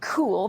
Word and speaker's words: Cuil: for coming in so talk to us about cool that's how it's pronounced and spelled c-u-i-l and why is there